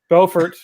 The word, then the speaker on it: Beaufort: We're in Beaufort, North Carolina, and specifically Beaufort. Beaufort. Buford, Beaufort, tomato. Tomato, right? Beaufort, North Carolina. Let's be sure and get that emphasis on the syllable correct.